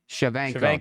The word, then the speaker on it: Shevchenko: pronounce it. Valentina. What? Shevchenko.